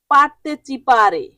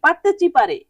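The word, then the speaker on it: partecipare: পরের শব্দটি হচ্ছে পারতেচিপারে পারতেচিপারে পারতেচিপারে উচ্চারণটা এরকম হবে পারতেচিপারে হ্যা পারতেচিপারে এটা একটি ইতালিয়ান শব্দ এর বাংলা শব্দ হবে অংশগ্রহণ করা পারতেচিপারে মানে অংশগ্রহণ করা ইংরেজিতে কিন্তু অনেকটা সেইম আসে উচ্চারণ যেমন পার্টিসিপেট ইংরেজিতে আমরা কি বলি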